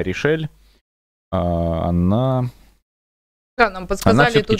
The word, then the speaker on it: RishEEL: И в финале столкнутся, как нам посоветовали в чате, игрок под ником Решил, который, кажется, на самом деле читается как Решель.